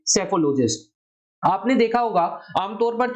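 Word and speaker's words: psephologist: यहां पर P silent है इसलिए शब्द कहा जाएगा सेफोलॉजिस्ट।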